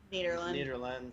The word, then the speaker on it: Nederland: Nederland, yeah. Nederland. We have an issue with pronunciation on the show, and I want to make sure I always get it right.